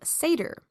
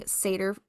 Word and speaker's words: Seiðr: find mentions of a type of magic called Seiðr, which is spelled Seidr. So Seiðr was in all likelihood a spun form of magic.